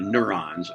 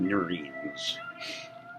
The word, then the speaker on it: neurons: The neurons it probably is but it's spelled neurines. Nerve cells that's what it translates to. We'll call them neurons.